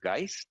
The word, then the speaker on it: Geist: Well, I believe you're quoting Professor Michael Geist is the proper pronunciation, and I will defer to my colleague, Minister Guilbeault, to answer that question.